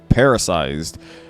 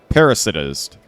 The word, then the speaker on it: parasitized: Before it died, this bug was parasized, and its movements were controlled by a fungus. No, I mispronounced that. Hold on a second. Parasitized.